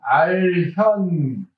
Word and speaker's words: 알현: 그래서 목례는 알현. 이건 견으로 안 읽고 현으로 읽어야 됩니다.